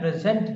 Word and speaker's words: present: noun then the accent is on the first syllable when present this word is used as adjective or noun